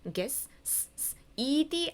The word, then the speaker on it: guessed: guess 이거는 guess ed 앞을 봤더니 라는 무성음으로 끝나죠. 그러면 얘는 무성음으로 끝나니까 이 ed를 로 발음해야 되겠다. 그래서 guessed 이렇게 되는 겁니다.